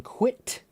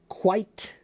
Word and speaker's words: quit: What is the difference between quit, quite, and quiet? Quit. Quit. Quit. I I I short I quite quite quite I I I I long I quiet quiet.